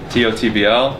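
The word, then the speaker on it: TOTBL: T-O-T-B-L, pronounced tot, the B and the L are silent.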